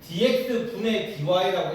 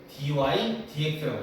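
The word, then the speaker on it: dy/dx: 여기 나와 있는 f프라임 x y프라임고 dx dy 이거 dx분의 dy라고 읽으면 안 된다. dy dx라고 읽어야 돼.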